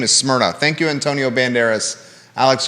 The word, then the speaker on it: Smyrna: right across the street how do you say the name of this new restaurant s-m-y-r-n-a yeah it's smyrna yeah it's a greek city it's a city in greece smyrna okay so the